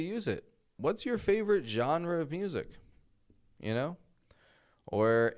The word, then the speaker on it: genre: Now, of course, maybe you've pronounced this Jenner. I hear that often. Jenner, we don't want to say Jenner or anything like that, but genre.